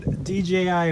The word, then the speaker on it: DJI: So we got the old DJI Mavic here. I need to pick myself one of these up. We just call it Jai.